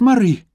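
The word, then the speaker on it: Moray: Lily up at first she'd copied down the letters carefully m o r a y and she'd frowned but that's not how it's said at all she'd pointed out it's Murray I Amelia had agreed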